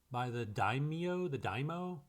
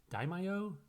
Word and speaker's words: daimyo: These words were first spoken by the daimyo, daimyo?